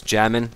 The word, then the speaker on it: xJamin: My name's Jamin. That is spelled with a silent X, of course.